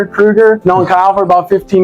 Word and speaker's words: Krueger: Well, I commend you on pronouncing the last name right. It's Krueger.